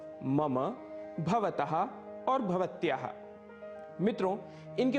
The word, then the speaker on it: मम: इसे मम बिल्कुल भी नहीं कहना है, इसका शुद्ध उच्चारण है मम। मम अंत में अ की ध्वनि अवश्य आनी चाहिए।